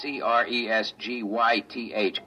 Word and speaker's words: Cresgyth: He wants us to record it instead as Well, I'll I'll spell it. It's c r e s g y t h, Cresgyth.